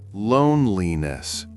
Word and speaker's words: loneliness: Loneliness. 3 syllables. Lone-ly-ness. Loneliness.